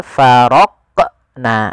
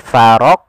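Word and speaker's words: فرقنا: Yang kedua, farq. Nah, ada menambahkan hamzah setelah huruf qof itu menjadi faroq. Nah, harusnya langsung saja faroqna. farqna ya mengalir dia huruf qof-nya sesuai dengan makhrajnya.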